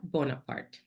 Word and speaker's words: Bonaparte: It's my full name and last name, Bonaparte. That's it. Very easy. And That's my is handle. I'm going to spell it out. Yes. like zebra A, Bonaparte, like Napoleon, Bonaparte.